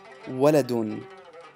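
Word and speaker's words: وَلَدٌ: If it had the tanween bid-dhamm, which is the two dhammas, we would simply add the n sound at the end, which would make it waladun.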